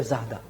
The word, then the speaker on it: Zara: akan sebesar zahda ya Sebesar Zara itu bacanya zahda Oke merasa layak layakkan